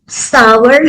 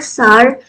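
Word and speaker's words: sour: सावर हम कहते हैं अमेरिकन इंग्लिश में, और सार इसका ब्रिटिश प्रोनाउंसिएशन होता है जिसका मतलब खट्टा होता है।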